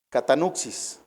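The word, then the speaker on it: κατάνυξις: ahí este se tradujo del griego catan xis con k y acento en la segunda a catan xis su definición es escosor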